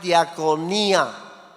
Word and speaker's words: diaconía: La palabra en griego es diaconía.